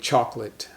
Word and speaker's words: chocolate: times and it's very common we just save chocalate chocolate we don't save chocolate but chocolate so